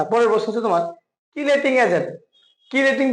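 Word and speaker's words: chelating: প্রশ্ন তোমার কিলেটিং agent কিলেটিং অনেকে উচ্চারণ সিলেটিং ঠিক আছে কিলেটিং এজেন্ট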